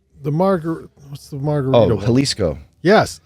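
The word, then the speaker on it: Jalisco: margar what's the margarit halisco yes is that how you say it halisco go with an a go with an a instead of a j yeah um we have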